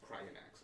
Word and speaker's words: Cryanax: Cryanax. Okay, I heard Cryax. Yeah, I think I said it wrong.